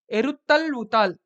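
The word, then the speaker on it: Eru Thazhuvuthal: Whenever you see zh in Tamil or Malayalam context, it is pronounced as l. So this is also called as eruttal vutal.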